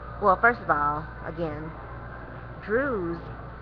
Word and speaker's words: Druze: So if he was a Druze priest, well, first of all, again, Druze, the word Druze was actually pronounced Darazi.